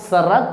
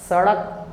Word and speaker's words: सड़क: आवाज़ निकल रहा है इसलिए आप सरक कहेंगे गलत हो जाएगा आपको बोलना होगा सड़क सड़क अब सन का रहे